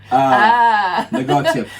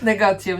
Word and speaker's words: Negotium: However, I spell apostrophe A to put a little twist on it, so you can pronounce it, comma, Negotium. Negotium, yes.